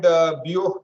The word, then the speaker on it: Biot: Okay, so this is called Biot number. It's written as Biot number, but it's spelled as Biot number.